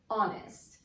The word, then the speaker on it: honest: honest man same example this is not hardest it is honest so because the word